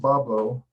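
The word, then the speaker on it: Bois Blanc: blah but it's pronounced babo through the influence of the corrupted French of the Detroit River Region there's a bablo island in the Detroit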